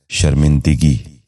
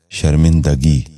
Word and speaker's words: شرمندگی: غور سے سنیے، شتاب۔ چوتھا لفظ ہے شرمندگی۔ یہ غلط تلفظ ہے، درست تلفظ ہے شرمندگی۔ دوبارہ سنیے، شرمندگی۔ بچوں آپ بھی غور سے